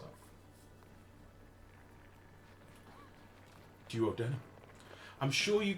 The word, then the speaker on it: duodenum: I'm sure you call it a duodenum. But I think the actual pronunciation, as in from the English dictionary, of which, let's face it, all of your language comes from, is the duodenum.